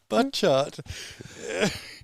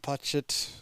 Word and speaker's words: Butchart: So I was trying not to say Butt Chart. Look, maybe he can... Is it Butchart? Maybe he can let us know in the chat the correct pronunciation. P. Butchart.